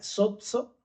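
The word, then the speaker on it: σῴζω: Y otra cosa te decía, esta palabra salvación es la palabra se pronuncia sozo, ¿no?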